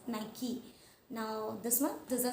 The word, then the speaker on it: Nike: So this word, it is supposed to be pronounced as Nike, not Nike. It is Nike.